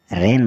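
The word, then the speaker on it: reign: त्याग पत्र देना आर ई आई जी एन रेन मतलब राज्य एस टी आर ई एन जी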